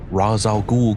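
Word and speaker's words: Ra's al Ghul: on the bat and we learn how to pronounce raz al-ghul correctly in this week's battastic episode of cosmic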